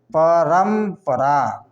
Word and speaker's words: परम्परा: यहाँ प में चलिए, है ना, परम्परा, परम्परा, परम्प। अब यहाँ पर देखिए रम, इसमें प वर्ग का अगर आएगा तो उसका उच्चारण म होगा, है ना, परम आधा